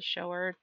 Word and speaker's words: shower: so in my head i was pronouncing it like shower also shower i don't even know if that's a an actual word but it totally makes sense when you rhyme it with grower not a shower